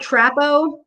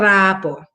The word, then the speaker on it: trapo: Just like trapo, but you're going to, of course, you're going to roll your R. You're going to trapo.